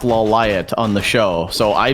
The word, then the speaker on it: Lawliet: loud oh but it's i heard it's actually pronounced la light on the show so i just never watched